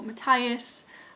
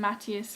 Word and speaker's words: Matthias: We see a lot of development in Wylan and Matthias, or Matthias as it's supposed to be pronounced, but I've been calling him Matthias for 2 books now, so Matthias it will remain.